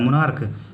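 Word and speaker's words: monarch: उसी तरह ये मोनार्क, इसमें सी एच का मतलब यहाँ सी एच का क प्रोनाउंस हो रहा है मोनार्क, तो हम लोग यहाँ पर सिर्फ एस ऐड कर इसे प्लूरल बनाएंगे हम लोग।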